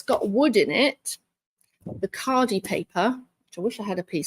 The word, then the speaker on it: Khadi: My other favorite papers are, I like Cardi Paper. That's spelled Khadi, Cardi Paper.